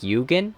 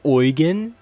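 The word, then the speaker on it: Eugen: Some of these characters are pretty cool, like Jugan, but it's pronounced Oen.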